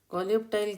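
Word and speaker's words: coleoptile: Okay, कोलियोप्टाइल क्या होता है? क्योंकि ये कोलियोप को अलग बोलिए और टाइल को अलग बोलिए, फिर जो प्रोनाउंस हो जाता है।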